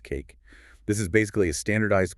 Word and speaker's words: CAIQ: The Consensus Assessments Initiative Questionnaire, or CAIQ, pronounced cake.